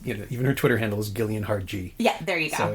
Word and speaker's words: Gillian: And it's even her Twitter handle is Gillian Hard G.